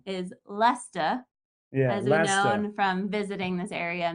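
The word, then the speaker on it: Leicester: Creek correct pronunciation is Lester yes from visiting this area many times it's not like Leigh Chester or Lai Chester Lester yeah you want to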